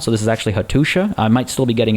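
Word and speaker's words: Hattuša: makes a sure sound so this is actually hatusha i might still be getting it wrong and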